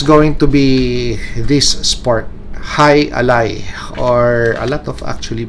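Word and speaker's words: jai alai: It's going to be this sport, High Ally, or a lot of actually people would pronounce this J Ally, but for easy pronunciation, it's going to be pronounced this way, High Ally.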